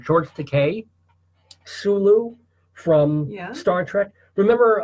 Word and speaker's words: George Takei: If Fred or Wendy or you're listening about George, I mispronounced his name. George Takei, Sulu from Star Trek.